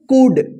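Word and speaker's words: could: सी ओ यू एल डी, इसको क्या पढ़ेंगे कुड, डी से पहले एल है तो साइलेंट रहेगा, कुड, कुड का मतलब क्या होता है सकना, ठीक है ना।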